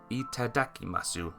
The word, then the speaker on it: itadakimasu: you're starting a meal just say eim masu itadakimasu that's how you say it hitu said in a